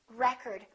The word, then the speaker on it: record: this word pronounced record it depends on if it's a noun or a verb I would like to get the new record record first syllable he broke the world